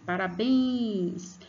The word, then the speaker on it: Parabéns: Parabéns! Você vai perceber que o bens, você põe bastante força aqui, ó, na região da garganta para pronunciar o bens.